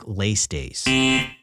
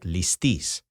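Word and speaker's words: ληστής: He's popularized the mispronunciation of the noun translated as bandit, saying it like leistes. Greeks today pronounce this word like listis. In Attic Greek, it may have sounded closer to leistes or leistes, but not leistes.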